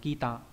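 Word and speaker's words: 北: Bắc đọc là gì nhỉ? Đọc là kita. Kita có nghĩa là hướng bắc.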